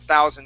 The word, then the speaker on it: thousand: box here Christian um with that th sound instead of pronouncing only a t you want to stick your tongue okay your tongue that right there between your top and bottom teeth we say thousand thousand thousand thousand okay